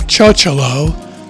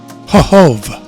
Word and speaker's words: Chochołów: No, it's not Chocholow. That's what I originally thought. It's something more like Chochołów.